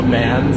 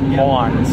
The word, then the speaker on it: MAN: Originally I called it, I think, the M-A-N, and then I just called it the Mans, and then I learned it was actually pronounced Mons, so.